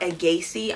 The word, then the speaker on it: A'Gaci: And they have this place called Agaci. I'm pretty sure is how you pronounce it. It's A with a little apostrophe, G-A-C-I.